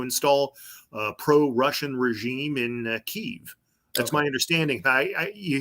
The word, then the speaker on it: Kiev: uh pro-russian regime in Kiev that's my understanding hi you hear Kiev but I once read where it rhymes with Steve no I've heard but I